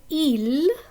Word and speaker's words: ils: So ils, which means they, that has a silent S at the end.